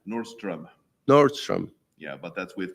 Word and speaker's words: Nordström: From my American friends, that's Nordstrom, like the chain store. Yeah. What is the correct pronunciation? Nordström.